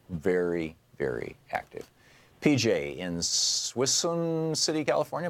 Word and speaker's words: Suisun: PJ in Suisun City, California. Am I saying it right, PJ? It's Suisun. Suisun. Okay.